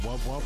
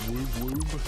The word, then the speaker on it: wub wub: Pronounced wub wub, not woob woob.